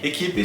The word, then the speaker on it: equipe: Equipe se escreve com a letra E na última sílaba, né? Equipe, de fato. Mas nós dizemos equipe. Equipe, por quê? Porque a letra E é a última letra e ela sofre um processo de redução vocal.